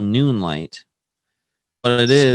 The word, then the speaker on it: Noonlight: It's called Noonlight. But it is Spell that out for people that didn't hear you properly.